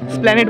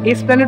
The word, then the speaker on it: Esplanade: তোমাদেরকে বলছিলাম যে আমরা কোথায় যাবো, এটা এসপ্ল্যানেড, ওখানে স্প্ল্যানেড বলে ওটাকে, এসপ্ল্যানেড লেখা আছে বাংলায়। এসপ্ল্যানেড ওটা নয়, স্প্ল্যানেড বলে। এইটা উচ্চারণ হয় না, এটুকু জানে না।